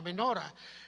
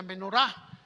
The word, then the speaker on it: menorá: Ustedes lo han escuchado, la menora, eh otros la pronuncian la menorá, así que vamos a llamarlo menora.